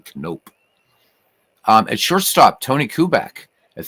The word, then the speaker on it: Knoop: And actually, you would say his name in Dutch is Knoop, but he never said it that way, so I won't either. But it's actually you say Bobby Knoop.